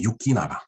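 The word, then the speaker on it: 行長: 그 다음에 이제 유키 나가. 네. 이 유키는 이제 갈행자입니다. 우리 이 갈행자. 이거를 동사로 읽으면 이쿠, 이키마스, 이키마쇼 하는 이키마스인데 유키 어디 행 할 때는 유키라고 읽어요.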